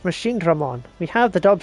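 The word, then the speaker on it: Machinedramon: How dangerous are all these machine Draymon attacks? They're very dangerous. Sword is gonna lose his shit with this dude. I'm gonna lose my shit with all these people pronouncing it wrong. It's Machine Dramon.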